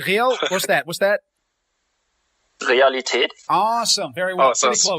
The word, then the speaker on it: Realität: Wow, Realität. you changed. You give a German accent. It's real. What's that? Realität.